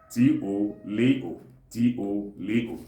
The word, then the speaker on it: Tolotolo: Then some parts of Anambra State call it Tolotolo, T-O-L-O, T-O-L-O, Tolotolo.